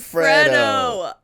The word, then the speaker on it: Freddo: Oh my gosh, Box some of Capri Capri Sun and Sun, some some Freddo.